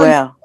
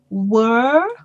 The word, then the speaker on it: will: At the end of the word, Candy, your tongue must be behind your upper teeth.